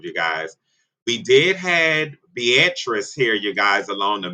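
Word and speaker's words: Beatriz: to form, you guys, I was calling it Beatrice, but I said I was going to get the pronunciation correctly, you guys, and it was Beatrice, you guys, and that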